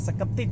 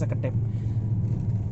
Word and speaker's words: Seketip: Nah, Seketip ya, tulisannya Seketip, tapi kalau orang Jawa bacanya Sekedip.